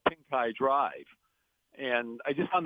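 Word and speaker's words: Pincay: and they're going to drive on Pink Eye Drive, and most of them aren't going to know why it's called that. They're going to pronounce it wrong. They're going to call it Pinkay Drive.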